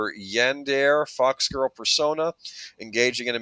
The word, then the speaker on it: Yandere: And before someone says something, I do believe that the term is pronounced Yandere.